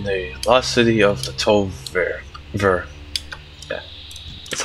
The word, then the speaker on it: Tol'vir: Sup guys, today we're gonna be doing the Lost City of the Tol'Vir. Yeah, that's how you pronounce it.